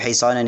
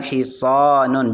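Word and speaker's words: حِصَانٌ: Hisonun ini adalah kuda ya. Artinya kuda. Maka shad itu dibaca panjang hisonun. Jangan hi. Hi-nya ini tidak panjang karena tidak ada yang membuat dia panjang, maka bacanya hisonun ya.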